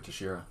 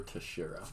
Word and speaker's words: Teixeira: Yeah, he's fighting Glover Teixeira.